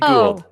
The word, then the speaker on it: Gould: I always say your last name wrong. Is it Gould? That was great. Gould.